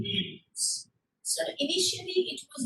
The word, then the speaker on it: Hindu: They started actually calling them Sindhus, but because Sir is pronounced as her, it became Hindus.